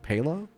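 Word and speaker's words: paella: Two L's in in Spanish is J. Pa. I think the L's are silent. Okay.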